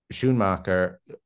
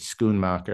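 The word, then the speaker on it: Schoonmaker: without the the editor schmocker I believe she pronounced it skoon maker actually um I don't think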